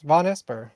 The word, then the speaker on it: Vonesper: i went von esper as well to not pronounce it correctly no i think that's correct von esper von esper oh okay cool i mean there's